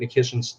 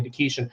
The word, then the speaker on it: Nikishin: But then the moment Nikish or excuse me, Neshian, I got to get used to pronouncing his name correctly.